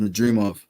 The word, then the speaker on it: Madrimov: It's just pronounced Madrimov.